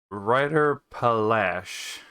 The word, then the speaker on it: Reiterpallasch: we actually just opened uh pronounced writer polish it even says you have to speak the r with the back of your throat not your tongue is a trick weapon